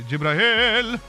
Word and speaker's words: Jibrail: Say his name proper because he's got the double E. You have to say Jibrail.